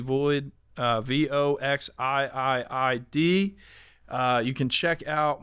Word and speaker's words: Voxiiid: And you can check out my merch at Voxid. It looks like it's spelled, but it's actually Void.